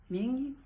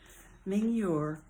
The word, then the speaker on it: Mingyur: This is a story recounted by Yongey Ming. I know I'm pronouncing his name wrong. Mingyur.